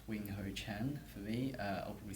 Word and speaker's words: Wing-Hou Chang: c o d l UA yeah and it's wingho Chen for me uh I'll probably spell it out it's w i n g h